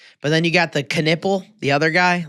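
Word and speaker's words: Knueppel: So, Khan Canipple, K N U P L K Canipple is how you say.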